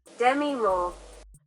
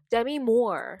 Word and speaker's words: Demi Moore: Pronunciation. Demi Moore. Demi Moore.